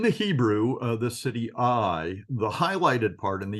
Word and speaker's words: Ai: Hebrew uh the city I the highlighted part in the yellow is just pronounced I it's an ion and a yode but there's a hey